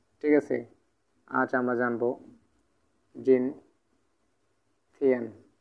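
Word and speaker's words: 今天: প্রথমত এই টোনটা সম্পূর্ণ কিন্তু একটা ফার্স্ট টোনের ব্যবহার চলতেছে।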